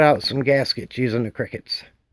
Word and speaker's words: Cricut: Let's cut out some gaskets using the Cricuts. CriCut. It's spelled C-R-I-C-U-T. Funny, huh?